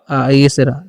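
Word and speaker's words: answer: स डब्ल्यू से व आ से र इसे आंसर पढ़ते डब्ल्यू का उच्चारण करना ही नहीं य का अर हो जाता है तो हम इसे पढ़ते हैं आंसर ठीक है यानी कि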